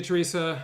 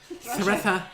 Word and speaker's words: Thretha: See you, Teresa. Thanks for coming in. Oh, is that how you say it? Oops. Thretha. Good night, Thretha. Oh, but anyway, I was looking for jobs.